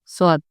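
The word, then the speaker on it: ص: দিয়েও উচ্চারণ হচ্ছে কিন্তু এইটাতে একটু ইন্টেন্স হবে এস এর মধ্যে একটু চাপ দিতে হবে যে সাপ এস করে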